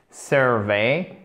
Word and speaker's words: survey: Les 3 premières lettres se prononcent comme Sir. OK? Monsieur en anglais. Survey. Ici, donc vous avez l'accent tonique sur la première syllabe. Et par contre, la seconde syllabe, il faut bien vous méfier parce que c'est une diphtongue. Donc ce n'est pas survey, mais survey.